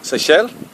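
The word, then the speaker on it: Seixal: okay so this is uh Seychelle although it doesn't actually look as though it's pronounced that way when you read it Lisbon over there fantastic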